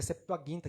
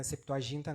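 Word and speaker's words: Septuaginta: da Septoaguinta, que é Septoaguinta que pronuncia, né? Septoaginta não é Septoaguinta, mas é da Vulgata, tá? Só para corrigir, tá? Eu não podia deixar de falar isso, né? Não é Septoaginta é o Antigo Testamento traduzido pro para o grego, não é? E a Vulgata é o grego traduzido para o latim, tá? Então, a Bíblia católica, ela vem da vulgata e não da Septoaguinta, né?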